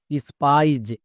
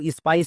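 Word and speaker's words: spies: তাহলে স্পো প্লাস আইজ স্পাইজ একে আমরা ভুল করেও স্পাইস বলতে পারবো না একই রকম ভাবে এল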